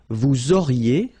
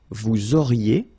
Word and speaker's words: vous auriez: Vous auriez, liaison here, and then EZ will go like E. Vous auriez, okay, and the last one.